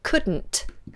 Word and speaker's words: couldn't: what we do is we bring the tongue up in the middle couldn't I couldn't I couldn't and we do what's called a lateral plosive don't worry yourself too